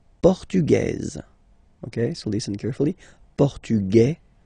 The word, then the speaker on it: portugaise: You don't pronounce the S, feminine form, portugaise, you pronounce this Z sound, okay?